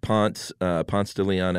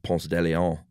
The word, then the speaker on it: Ponce de Leon: And, you know, at Ponce de Leon Avenue here in Atlanta, everyone that doesn't live in Atlanta probably laughs that we pronounce it that way instead of Ponce de Leon.